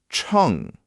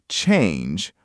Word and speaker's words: 称: Or you can say, "Bang wo chong yi xia. Please weigh it for me." Chong. Chong. Good. Not change, but chong. Short and clean.